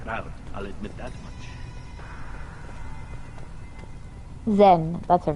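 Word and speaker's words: Xen: Zen, that's her name. I think the X is pronounced Z.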